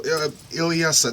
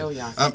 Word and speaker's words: Ilyasah: All right, so Ilyasah, that's the correct pronunciation, right? Ilyasah.